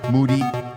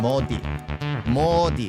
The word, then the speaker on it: Modi: We have good plans in coming years thanks to uh to Mi Moody Mi. How do you say it? Modi Modi.